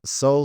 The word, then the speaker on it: Sol: Soul Sister is SOL. Soul is another word for sun. She's a sun goddess. Some So it's SOL, sister, SISTAH.